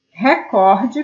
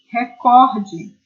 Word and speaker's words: recorde: dias nos telejornais mas em português a pronúncia é recorde se vocês buscarem a